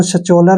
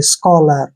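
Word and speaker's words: scholar: ओ एल ओ आ इसको स चोलर नहीं पढ़ना है देखिए मैं आपको बताता हूं एस का प्रोनाउंस हम स करते हैं और सी एच का जो प्रोनाउंस हम क करें क्योंकि सी एच के बाद अगर ओ आता है तो सी एच को हमने क पढ़ना है ऐसे स्को क्या हो गया स्को एल का उच्चारण ल करेंगे ओ आर को र पढ़ेंगे ऐसे स्कलर स्कलर क्या होता है विद्वान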